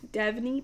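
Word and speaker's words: Devney: I keep saying Devany or something and I keep saying it wrong. Devonyie Perry.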